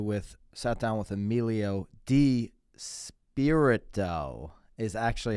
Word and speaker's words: DiSpirito: podcast with you with sat down with emilio d spirit doe is actually how you pronounce it you'll see at the beginning of